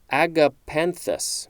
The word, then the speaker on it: agapanthus: Agapanthus. There we go. Agapanthus. A-G-A-P-A-N-T-H-U-S. This is a noun from circa 1789. Any of several African plants, genus Agapanthus, of the lily family, cultivated for their umbels